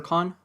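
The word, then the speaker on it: Kāne: So yep, is it Kane or Khan? I think the correct pronunciation according to Hawaiian mythology is Khan or Kane.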